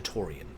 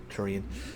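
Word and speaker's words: Tourian: Down into Torian. Turian. There's been an official pronunciation, but I just call this Torian.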